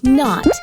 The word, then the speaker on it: knot: Could you share with the kids what are these words that start with the letter K, but the K sound is silent? All right. Listen carefully, kids. Knot, knife, knob.